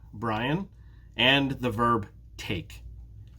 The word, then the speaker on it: Brian: My name has 2 syllables. Brian. Bri-un. 2 syllables. Take is just 1 syllable. Take. So in my name, which syllable is stressed? Think about it for a minute. Brian. Brian. It's the first syllable.